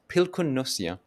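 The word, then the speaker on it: pilkunnussija: pronounced pilkunnosia.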